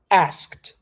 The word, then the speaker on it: asked: all right ask ask asked asked asked again one more word that you you won't necessarily pronounce the k sometimes I asked a question